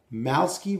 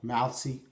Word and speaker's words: Malewski: that's what it's called mousey mouths skeet razor strop his last name is spelled mal e WS ki mouse key I believe the W is silent this particular strap which